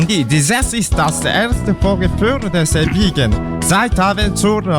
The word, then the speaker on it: Vorgefühl: This is das erste Werkgefehl des Ewigen, Sie haben zur Liebe. Bah non, c'est pas comme ça qu'on prononce. Hein? On dit, this is das erste Vorgefühl des Ewigen, Sie haben zur Liebe.